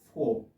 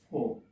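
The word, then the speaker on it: four: British pronunciation এটা আর বাটা silent থাকে এটা উচ্চারণ হয় না তো আমরা এখানে পড়বো কি ফোর ফোর and then five six seven eight nine ten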